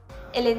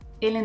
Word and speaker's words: Ellen: So it's got 2 short E sounds. So it's not Ellen or Ellen, it's Ellen.